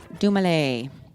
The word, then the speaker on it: Dumile: Doom, is also a play on his name, pronounced Dumile.